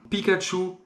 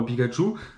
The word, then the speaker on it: Pikachu: Alors en japonais, c'est différent Pikachu. Mais voilà, Pika et Chu, c'est comme ça que ça se prononce au Japon, avec deux onomatopées qu'on a rassemblées pour faire le prénom Pikachu.